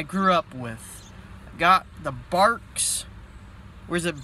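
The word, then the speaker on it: Barq's: up with got the Bark's or is it bars I think it's pronounced barks barks root beer I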